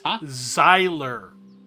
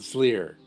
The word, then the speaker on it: Zyler: pack send to Camp it's zyler rhymes with Tyler sorry not Zer got it Zyer also